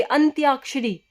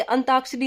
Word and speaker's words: अंत्याक्षरी: हम बोलते अंताक्षरी, अंताक्षरी, तो अंताक्षरी कोई शब्द नहीं होता, शब्द होता अंत्याक्षरी, यानी न भी आधा और तय भी आधा।